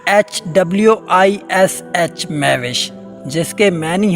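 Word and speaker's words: Mehwish: है मेहविश एमई एच डब्लू आई एस एच मे विश जिसके many है खूबसूरत चांद जैसी हसीनो जमील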